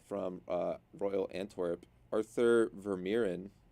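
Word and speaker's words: Vermeeren: Belgian Center mid from uh Royal ANP Arthur verin it's how you pronounce it yeah ver yes sir uh this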